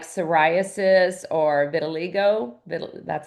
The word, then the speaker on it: vitiligo: Skin conditions like psoriasis or vitiligo.